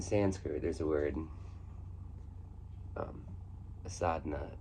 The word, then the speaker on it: sadhana: In Sanskrit, there's a word, um, sadhana, and that's how I've heard it pronounced, by the way.